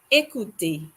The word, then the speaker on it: écouter: There's an acute accent on the letter E, so we pronounce it like E.